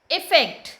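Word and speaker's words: effect: तो इस तरह से इफेक्ट मतलब प्रभाव डालना, इफेक्ट मतलब किसी चीज़ का परिणाम निकलना। तो स्पेलिंग पे ध्यान दीजिएगा, केवल यहाँ पे ई है इफेक्ट में, अफेक्ट में ए है। बोलने का तरीका भी देखिए, इफेक्ट, अफेक्ट।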